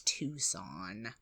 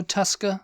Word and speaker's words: Tucson: it's it's a bit weird but yeah it's tucon I don't think anybody in America mispronounces that oh no no Tusa like tuscal Losa no Tusk on um uh